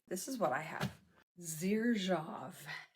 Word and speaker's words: Xerjoff: Xerjoff. Xerjoff is how you pronounce it.